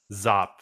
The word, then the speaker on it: Zop: Is that pronounced Zop? Zop.